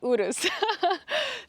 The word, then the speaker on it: Urus: It's Michelle, and today behind me I have a 2025 Lamborghini Urus SE, or correctly pronounced Lamborghini Urus.